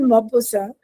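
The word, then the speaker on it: Maupassant: I mean T is there at द एंड of this the name but वी in French T को हम sound नहीं करते हैं। ठीक है? सो it's called मोबोसा and this man ही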